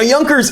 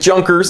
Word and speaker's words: Junkers: Now, Yonkers is a German company. You might pronounce it Junkers if you're a stupid American like me, but it is Yonkers, okay?